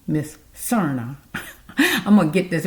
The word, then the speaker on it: Serna: So, with Miss Serna, I should be saying it right this time. No, that's wrong. Miss Serna.